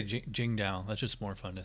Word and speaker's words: Tsingtao: I don't know if it's pronounced Tsingtao, or I've heard it's pronounced Tsingtao, like with a J kind of sound. Let's say Tsingtao.